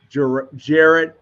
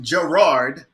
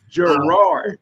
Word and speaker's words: Jarrard: are the agency principal, Jared Rod Powell Sr. Did I get that right? Well, it's pronounced Gerard. Gerard. Okay. Gerard.